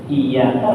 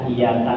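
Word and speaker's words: إِيَّاكَ: Iyaka bacanya iyaka, itu tasdidnya tertinggal. Lah iyyaka na'budu wa iyyaka nasta'in, dua tasdidnya tertinggal.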